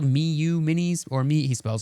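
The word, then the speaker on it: Miyoo: That's how it's spelled, miu mini.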